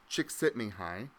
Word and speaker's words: Csikszentmihalyi: from what I've been told numerous times it's pronounced chick sitting hi and he developed this term flow if you're a psychology major you've probably heard of Csikszentmihalyi he's a psychologist and researcher and he talks